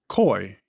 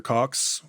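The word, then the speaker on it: Coix: Cox. What is your next query? Pronounced Coy. Like Coy. Well, what is wrong with my pronunciation, Dr. Cox? Please, tell me the issue. It's just incorrect.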